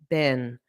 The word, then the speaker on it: been: So notice the internet bin. Just an unstressed been for this word.